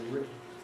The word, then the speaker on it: written: I say written with a nasal release of a T, but lots of Brits and most Americans say written with a glottal stop.